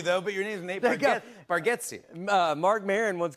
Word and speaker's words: Bargatze: I told you, I think you say our last name correct with Bargatze, and I think we say it wrong as a family. Bargatze. For years, I've been calling you Nate Bargatze.